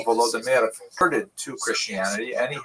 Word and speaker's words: Volodymyr: What's especially important in its history is the conversion of one of its leaders, Volodymyr, pronounced in Russian Vladimir, shown here in a statue overlooking the Dnipro River that runs through the middle of Kiev.